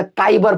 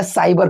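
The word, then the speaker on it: cyber: मैं आपको बता दूं कि यहाँ पे मैं पहले साइबर नहीं पढ़ता था, काइबर पढ़ता था, क्योंकि मुझे मालूम था कि भाई सी का उच्चारण क होता है, जैसे कि कैट वगैरह हम लोग लिखते हैं। तो गाइस आज के बाद से आप भी काइबर मत पढ़िएगा, साइबर पढ़िएगा, ठीक है।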